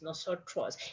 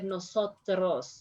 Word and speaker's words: nosotros: policias the buffalo grove remember that in english you said a little bit stronger than nosotros no sir trust in spanish we said a little bit softer nosotros nosotros so you have to